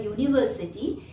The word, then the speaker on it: university: Like for example, if I say a university, here the word starting with a vowel and begins with a U sound like you, EU.